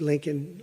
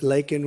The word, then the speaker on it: Laken: lak Riley you know Laken very well now and after months of prodding him Biden couldn't pronounced her name he said uh he said Lincoln Lincoln Riley and Lincoln Riley is the football coach the coach and uh